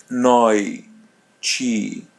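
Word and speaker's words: noite: No chi. Noi. Noi. So te are pronounced as chi. And the letter I is pronounced as Y.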